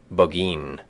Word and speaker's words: Burgoyne: famous fox hound named burgoyne he pronounced it bagin which my informant used